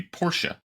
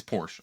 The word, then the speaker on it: Porsche: Like everybody says, it's supposed to be Porsche. I'll never say that. It's Porsche. I don't care.